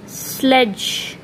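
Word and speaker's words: sledge: We have D silent hair and we will not pronounce the letter D, स्लेज.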